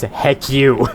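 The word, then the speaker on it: HECU: combat unit or hcu which when pronounced says heck you that's basically what it's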